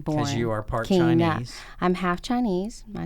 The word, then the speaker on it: Kyna: And I would say, Kyna, like Tina, but with a K-Y.